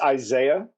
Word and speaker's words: Isaiah: And I'm pronouncing that correctly, aren't I? Close. It's Isaiah.